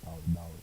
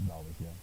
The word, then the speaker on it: Taoist: You can say Taoist. It's Yeah. pronounced Taoist, Yeah.